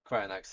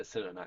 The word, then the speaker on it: Cryonax: Oh, Cryo, Cryonax. Cryonax, yeah. You said Cyrenax.